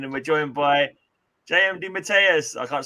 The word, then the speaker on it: DeMatteis: This is the Geeky Weekly with the old farts again, and we're joined by JM DeMatteis. I can't say it right, probably. I'll probably pronounce it wrong.